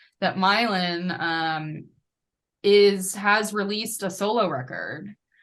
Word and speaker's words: Mylan: Eastern European name, but his version of it is the Irish pronunciation, which is Mylan. That like Mylan, not Milan.